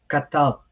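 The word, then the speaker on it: קטלת: In which case, it's pronounced this way, katalt. So notice that in this case, both are silent.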